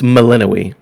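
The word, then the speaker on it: Melinoë: It's Melinoe.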